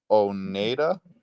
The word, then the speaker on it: Oneida: I accidentally mispronounced. I believe it's, oh God, here we go again. Oneida.